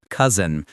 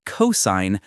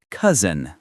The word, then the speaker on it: cousin: Cousin, not cosign. Cousin.